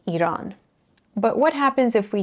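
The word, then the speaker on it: ایران: So we said that if we want this E sound at the beginning of a word, we have to add alif, like Iran.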